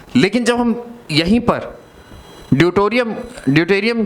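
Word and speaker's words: deuterium: इसके बाद एक हाइड्रोजन का ही आइसोटोप होता है, that is known as ड्यूटोरियम, DEUTORIUM, ड्यूटोरियम। ठीक है, शायद स्पेलिंग में कुछ गड़बड़ है।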